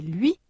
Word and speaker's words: lui: 495 activation orale prononciation la semi-voyelle u révision pour prononcer le son u comme dans bruit et lui.